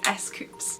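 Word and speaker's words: 에스쿱스: as you can see the first character is not the s consonant the s comes in here and this whole section this is the s part so it's so this is silent this is the s sound this is the s and this is the uh sound so this all together is s like that so it's not just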